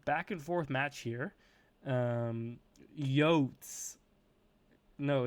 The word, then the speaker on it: Yote: No, you could call me Yotes. I mean, Scruffy, Qrescent7 calls me Yotes. how is it supposed to be pronounced?